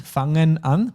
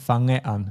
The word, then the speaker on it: fange an: Yeah, it's easy to add an N there by accident. Fangen an, but it's just fange an.